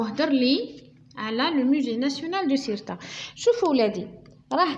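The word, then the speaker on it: nationale: هذا تي نكتبوه تي بصح ننطقوه اس بالتالي نقولوا ناسيونال d'accord.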